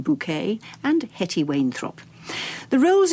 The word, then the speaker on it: Bucket: the BBC's television schedules, Hyerson Bucket, pronounced Bouquet, and Hetti Wayne.